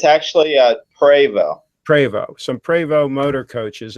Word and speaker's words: Prevost: Is it pronounced Prevost? It's actually Prevost.